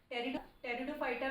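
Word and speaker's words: Pteridophyta: पी से start है यह जो पी है यह साइलेंट है तो टेरिडोफाइटा में कंफ्यूज मत होना क्योंकि टेरिडोफाइटा की स्पेलिंग पी से स्टार्ट होती है और जो फलेरो गेम्स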